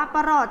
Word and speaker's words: ปรอท: หมด หรือ ยัง คะ ตัว ปรอท ๆ เด็ก บอก ว่า ปรอท ใช่ หรือ เปล่า ครับ ผู้ กอง ฟ้า เด็ก เรา ออก เสียง คำ ว่า ปรอท สิ คะ ปรอท ปรอท ปรอท ปรอท ใช่ ไหม คะ ความ หา ไม่ ใช่ ค่ะ เออ ฉะนั้น ทำ นี้ ไม่ ใช่ คำ ควบ กล้ำ แท้ แสดง ว่า ข้อ สอง